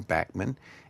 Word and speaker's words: Bachman: was first around with Randy Bachman uh who pronounces his name Bachmann and Burton Cummings who's one of my favorite heroes.